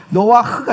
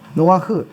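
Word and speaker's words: נֹחַ: 노아흐가 정확한 발음이에요. 노아흐.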